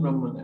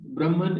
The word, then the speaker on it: Brahman: thinks that he knows brahman actually doesn't know brahman and the person who brahman is actually brahma so it is the end is silent actually in the reality